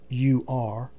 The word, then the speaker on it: Ur: Personal footnote: Ur, spelt U-R, is more commonly pronounced as or Ur.